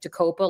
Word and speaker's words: Jacopo: It's like Jacopo, like we got to cope with him.